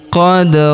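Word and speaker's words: قَدْ: Huruf da berharakat sukun kita pantulkan atau kita qalqalahkan. Tilka ummatun qod khalat.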